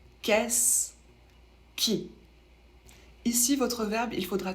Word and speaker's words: qu'est-ce qui: qui pour la prononciation ça se prononce qu'est-ce qui ici votre verbe il